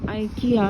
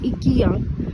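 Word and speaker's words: IKEA: और इस वक्त मैं मौजूद हूँ आइकिया या इकिया, जिसको कि दोनों तरह से प्रोनाउंस किया जाता है।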